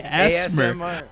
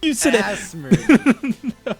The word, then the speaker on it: ASMR: you pronounce that dude you can't just say ASMR ASMR dude asmer we're doing some asmer up in here dude that's not how you say that asmer all right so